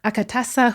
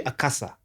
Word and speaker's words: Akatsa: It's a But there's a T there. Yeah, it's actually Akasa. Aha. The T is silent in Luya, but it's just there for decoration.